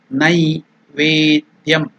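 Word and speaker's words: नैवेद्यम्: Again I am telling you Nai. It is not Ne. Nai Vedyam.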